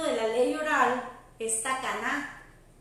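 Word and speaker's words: תקנה: Otro término de la ley oral es takaná o geserá. Takaná se escribe T-A-K-A-N-A-H.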